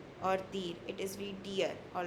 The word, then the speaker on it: dir: Uh here it is not dir or dir, it is wie dir, all right?